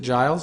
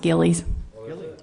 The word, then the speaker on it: Gillies: Donald Nash entertainment child is it Giles it's pronounced gillies yeah second a second